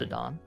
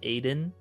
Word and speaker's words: Adon: It is pronounced Adon. I know some individuals call it Aiden.